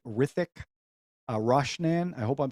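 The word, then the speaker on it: Hrithik: I don't know how to pronounce this, so I think the H is silent. Rithik Roshan, I hope I'm saying that right.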